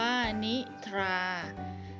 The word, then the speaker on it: นิทา: นะ คะ ต่อ ไป คำ ว่า นิทา อ่าน ว่า นิ ทา